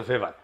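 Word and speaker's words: Weber: আরেকজন দার্শনিক আছে ম্যাক্স ভেভার এটা ওয়েভার বলে অনেকে এ উচ্চারণ আসলে ভেভার তার একটা লেজিটিমেসি এবং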